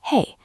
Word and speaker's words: hej: "Jag" is pronounced "ya" and "hej" is pronounced "hey".